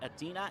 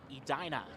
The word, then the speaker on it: Edina: my attention that uh it is not Adena it is Edina Edina Missouri thank you County to